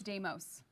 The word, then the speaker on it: Deimos: Is it Deimos? It's Deimos.